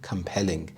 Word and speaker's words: compelling: the night compelling compelling the stress is on the second syllable compelling this means evoking or